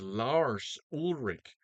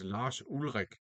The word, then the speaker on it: Lars Ulrich: Now, the drummer in this band on this album is Lars Ulrich, except that's not his name. His name is Lars Ulrich because he's Danish and that's how it's pronounced in Danish.